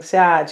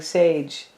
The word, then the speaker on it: Sag: and she said that people were mispronouncing Sag, and they were saying sage, and then she was saying it's not saggy either.